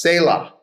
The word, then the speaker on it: Selah: It's pronounced Selah.